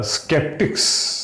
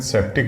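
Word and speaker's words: skeptics: स्केप्टिक्स। स्केप्टिक्स का मतलब होता है शक करने वाले, डाउटर्स। ठीक, स्केप्टिक बहुत ही इंपॉर्टेंट वर्ड है, इसका प्रोनाउंसिएशन सेप्टिक नहीं होता है।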